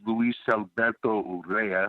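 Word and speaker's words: Luis Alberto Urrea: my best friend growing up his name is Luis Alberto Ura I gotta say it like that he's a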